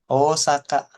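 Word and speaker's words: 大阪: Osaka seperti itu. Karena O-nya yang di sini adalah cara baca kanji.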